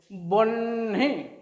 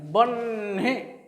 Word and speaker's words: বহ্নি: তাহলে এখানে যদিও হয়ের পরে দন্তনটা যোগ হয়ে এই যুক্ত বর্ণটা গঠিত হয়েছে, কিন্তু উচ্চারণ সময় দন্তনের উচ্চারণটা আগে হবে, হয়ের উচ্চারণটা পরে হবে।